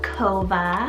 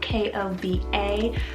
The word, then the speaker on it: Kova: english rooted meaning joyful number 72 i have kova it's about k-o-v-a kova this one's derived from the seaside word